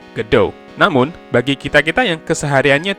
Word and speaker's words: Godot: Jadi, nama Godot itu diambil dari judul drama teatrikal asal Prancis, Waiting for Godot, sehingga pengucapannya adalah Godot.